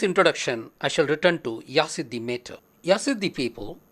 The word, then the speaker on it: Yazidi: I will start with the very name Yazidi. It is pronounced variedly as Isidi, Yasadan, Yazidi.